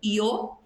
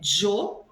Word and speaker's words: yo: A pronúncia pode ser yo, yo, yo. Depende do país ou depende da região dentro do próprio país, há uma variação de vocabulário. Então, há países que falam a letra Y como io, como se fosse um i, io. Tem países que a pronúncia do Y é jo. E tem países que a pronúncia do Y é sho, como se fosse um X, sho. Todas estão corretas, todas são utilizadas, porém é uma questão regional.